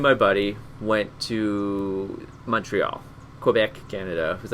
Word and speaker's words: Quebec: And this particular week, me and my buddy went to Montreal, Quebec, Canada. It was like 7-hour drive. So I think we, it's pronounced Quebec. Quebec.